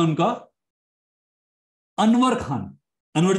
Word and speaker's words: Anwer: मेरे पास भी अभी एक भाई साहब हैं, अच्छा खासा नाम है उनका, अनवर खान।